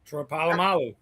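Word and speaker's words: Polamalu: Palomalo.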